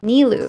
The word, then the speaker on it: Nilou: Nilou. Correctly. Nilou.